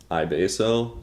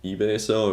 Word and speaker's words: iBasso: Now, iBasso, eBasso, I've heard it pronounced both ways, but that's my point.